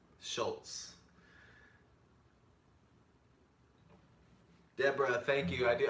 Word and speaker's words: Shultz: out of you my last name is pronounced Schultz Schultz Deborah thank you I